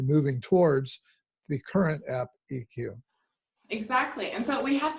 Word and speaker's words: eQuoo: But then now, is the app that you're talking about eQuoo? Is that how you pronounce it?